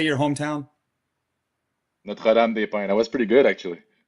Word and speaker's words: Notre-Dame-des-Pins: Notre-Dame-des-Pins? How do you say your hometown? Notre-Dame-des-Pins.